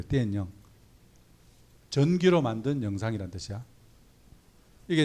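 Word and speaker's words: 电影: 여기 중국 학생은 없는데 중국말로 이거는 띠엔영 이래. 띠엔영.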